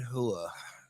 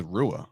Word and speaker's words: Rua: And Shogun Hua. Oh, okay. No, I thought it was Rua. I'm wrong.